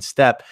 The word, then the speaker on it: steppe: know being from the eurasian is the word pronounced step or steep i've seen it written yeah from the eurasian step uh i spent five and a half years